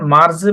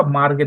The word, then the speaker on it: Marge: এটার উচ্চারণ মার্জে বা মার্গে দুইটাই হইতে পারে।